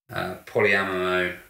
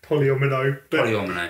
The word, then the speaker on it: polyomino: But it's also got the kind of polyamino puzzle. How do you say it? Polyomino.